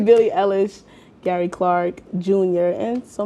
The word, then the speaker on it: Billie Eilish: Billie Eilish, yeah.